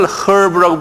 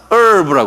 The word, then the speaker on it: herb: 다음에 모음이 오면요, 예, 이 어떤 거는 H 발음을 안 해요. 그래서 우리가 시간도 hour 그러잖아요. 본래는 hour인데, 그죠? H 발음 안 하잖아요. 똑같이 여기 이걸 herb라고 부르지 않고 herb라고 그래요. herb.